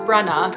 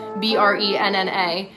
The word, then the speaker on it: Brenna: Because my name is pronounced Brenna, Brenna.